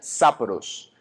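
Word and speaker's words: σαπρός: obsceno viene de una un vocablo griego que se pronuncia sapros y lo que significa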